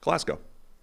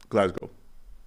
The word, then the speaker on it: Glasgow: Glasgow. Good enough. Glasgow.